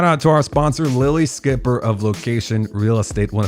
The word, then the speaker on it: Schipper: Lilli Schipper. It's Schipper, pronounced Skipper, but Lilli Schipper of Lokation Real Estate.